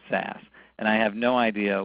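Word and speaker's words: SaaS: z so it's baz if it's software as a service it's almost always pronounced SAS and I have no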